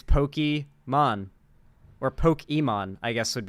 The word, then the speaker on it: Pokimane: The real way you're supposed to pronounce Pokimane's, the way you're supposed to pronounce her username is actually Pokemon. I always thought that Destiny was pronouncing it wrong as a meme, but no, as it turns out, the actual pronunciation is supposed to be Pokemon, like Pokemon, but it's probably best people think it's Pokimane for obvious Nintendo will sue the absolute